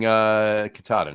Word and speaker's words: Katahdin: Yeah, Katahdin or Katahdin. I don't know how it's pronounced. I say Katahdin. So. I say Katahdin. You say Katahdin. We all say Katahdin. Let's call the whole thing off.